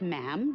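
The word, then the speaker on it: ma'am: majesty and after that it's just mam rhymes with jim and it's always a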